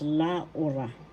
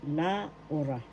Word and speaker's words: Laura: at la at means and conjunction and a and d and pronunciation is la first syllable la second syllable u third syllable ra the accent is in the second syllable la ora and this is written